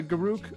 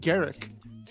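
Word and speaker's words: Garruk: to dodge basically uh garuk or garrick i know people the actual pronunciation is garrick i'm aware of that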